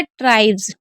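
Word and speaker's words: tribes: देख लीजिएगा ठीक है जैसे हमने लिखा ट्राइब्स तो यहां पर एस से पहले क्या है बी ई है क्या है एस से पहले बी ई है तो हम एस को क्या पढ़ रहे हैं? ज़ पढ़ रहे हैं। यानी कि ट्राइब्स।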